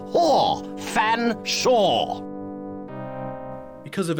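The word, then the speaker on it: Featherstonehaugh: can't pronounce one's name it's perfectly simple F silent e a silent T silent h silent E silent r s silent T silent o n swap the n and the S silent e h a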